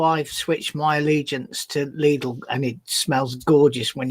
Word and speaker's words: Lidl: And that's how it's pronounced. Lidl. Lidl, as in Lidl.